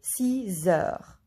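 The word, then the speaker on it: six heures: Here we have X, that's why we listen Z. Il est 6 heures.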